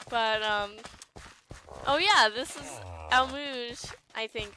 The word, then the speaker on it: Almuj: But, oh, yeah, this is Almuj, I think. I looked up how to pronounce all the city names, and that's what they said.